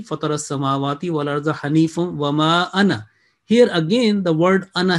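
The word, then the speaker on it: أنا: وَجَّهْتُ وَجْهِيَ لِلَّذِي فَطَرَ السَّمَاوَاتِ وَالْأَرْضَ حَنِيفًا وَمَا أَنَا. Here again, the word أَنَا has mentioned. If we joining, وَمَا أَنَا مِنَ الْمُشْرِكِينَ, this alif will not be pronounced traditionally, okay?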